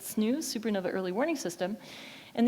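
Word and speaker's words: SNEWS: We pronounce it snooze, supernova early warning system.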